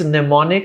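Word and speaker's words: mnemonic: marketing is the word nemonic. Mhm. It's nemonic and it's not pronounced pneumonic and I find people writing it and pronouncing it as pneumonic.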